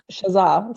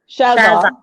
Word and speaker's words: Shazza: Yeah, okay, so I put the wrong emphasis on the wrong syllable. And it's not Shazam, it's Shazar, right? You're gonna really tap into your inner bogan, Shazza. There's no R at the end.